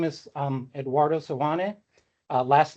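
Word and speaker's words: Seoane: Uh Sane. It's hard to hear you, but I think you're saying Sana. Sane.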